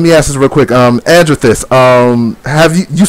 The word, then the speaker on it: Andrethyst: And then, of course, I got Andrethyst. Please tell me I'm pronouncing your name right. You're not. It's Andrethyst.